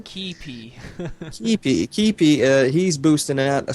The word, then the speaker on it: Keype: Or how did you pronounce his name? Keype.